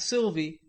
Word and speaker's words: Sylvia: We revelled in the fact that Davy and Aunt Sylvia, pronounced Aunt Sylvie, a light brown lad